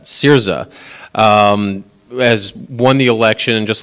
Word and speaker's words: Syriza: And then now just last night, we had the Greek elections, and Syria, the, I think I mispronounced that, Syriza, has won the election.